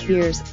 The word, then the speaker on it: Vers: She's known as Ver pronounced Veers, and is living in Hala, the capital of Kree, as part of an elite military team.